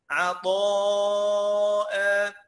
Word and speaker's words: عطاء: عطاء جزاء، لاحظ الفرق؟ كذا دها، تمام؟ فيها عيسى، عيسى، لكن عطاء قلت عطاء، عطاء. ليه قلت الالف كده؟ لانه خلي بالك الطاء من حروف خص ضغط طن طن طن، الطاء اهو خص ضغط قذ.